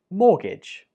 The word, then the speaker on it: mortgage: house, and it is mortgage. Mortgage. This word has a silent letter, and it is the T in the spelling.